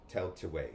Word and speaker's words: Tailtiu: Tell to way.